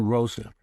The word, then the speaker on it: Rosa: And when they hired me, um, the woman in charge of marketing, uh, was a woman, Jacqueline Rosa, uh, Rose in English, but it's two syllables in German.